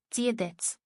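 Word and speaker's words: Dia dhuit: Gia or Dia Gwit. Dia Gwit. Oh man, that's crazy. Right, righteous ham. All right, how do you say it? How do you say it? Right. Oh shit. Anyway. Diadet.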